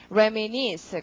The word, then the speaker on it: reminisce: 그래서 발음이 reminisce 강세 니에 올리시고 reminisce 이런 거 나중에 다 표제어 나올 겁니다.